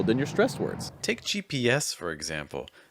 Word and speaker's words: GPS: take gps for example the stress is on the s so that's the part you want to hold longer and have the higher pitch on the gp is not stressed so we're going to say those two letters a lot faster it'll take an hour